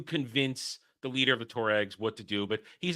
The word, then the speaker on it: Tuaregs: They get picked up by how do you pronounce it? To the the Tuaregs. Thank you, Tuaregs.